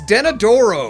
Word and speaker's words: Denadoro: know how it's pronounced it's danadoro danadoro it's more like then a dorco donnie darko let's go